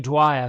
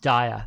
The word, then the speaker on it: Dyer: a fabulous indian author dr wayne dwyer founder um dyer sorry got his last name wrong um um anita morgani